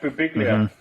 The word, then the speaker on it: Birbiglia: Mike Birbiglia, he has a bit on his. Boo Biglia.